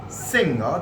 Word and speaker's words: singer: is a very prominent singer. This is how we have been pronouncing this singer, but that has to be singer. See, your G goes silent in here, so you don't pronounce that singer, but you pronounce that singer.